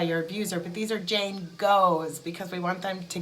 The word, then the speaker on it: Jane Goe: I had my first Jane Go, is what I'm going to call them, and Go is spelled G-O-E.